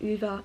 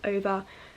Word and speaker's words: Ove: Also, just while we're starting, I know everyone pronounces differently. I say Ove, some people say Uva, Ova, Ove. I just say A Man Called Ove, that's how I've always read it in my head.